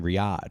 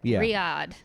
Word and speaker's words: Riyadh: some comics are getting criticized for uh uh doing the um that comedy festival in in Riad.